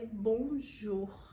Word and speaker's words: bonjour: e eu não sei correta da palavra é Bonjour Bonjour Bonjour o r é bem puxadinho realmente Então essa pronúncia